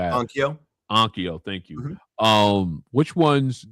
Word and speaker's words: Onkyo: Um outside of the outside of uh I can't pronounce it. Okos and stuff like that. Ano? Ankio, thank you.